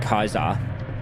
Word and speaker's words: Caesar: true to Caesar. Well, actually, he'd be saying Kaisar, the correct pronunciation.